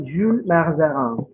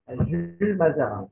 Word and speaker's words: Jules Mazarin: Bacanya Jules Mazarin. Kardinal itu jabatannya ya, bukan nama ya. Oh. Jadi yang betul adalah Kardinal Jules Mazarin. Bacanya Jules. Iya. Jules Mazarin.